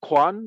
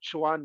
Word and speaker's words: Quan: you yeah yeah well my name is Quan I understand why you pronounce Chuan because in pinging it would be Chuan but it's Quan it's a in pinging it's two two so I was born